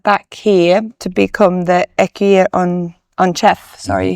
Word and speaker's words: écuyer en chef: So when you then went back here to become the écuyer en chef, sorry, how do you say it in French? Yeah, écuyer en chef, yes.